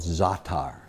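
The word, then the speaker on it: za'atar: is a spice in the Middle East called zatar they Zaca exactly it's spelled za8 t AR now this is a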